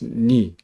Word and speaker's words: nu: We say is ni, Greek n, h ni. Sorry, the Greek letter is ni. This is we pronounce it ni. Anyhow, sometimes people just say nu. That's fine in English.